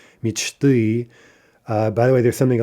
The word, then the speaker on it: мечты: Instead of the expected, perhaps, мечты, the plural of мечта is мечты, right, with no stress shift.